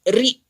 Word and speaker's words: ऋ: तो इसे री ऐसे बोलते हैं, री।